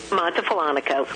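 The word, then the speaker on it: Montefollonico: You're in, tell me if I'm saying it wrong, Montefalonico? Montefalonico, yes, we are.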